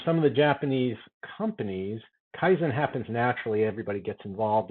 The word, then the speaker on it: Kaizen: Kaizen. Kaizen. Think Zen. Zen is good. Zan is actually bad.